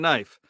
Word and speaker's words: knife: It's just like the silent K and knife.